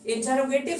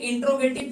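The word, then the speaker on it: interrogative: इसलिए प्रोनाउंसिएशन को थोड़ा क्लियर कीजिए और बोलिएगा इंटरोगेटिव।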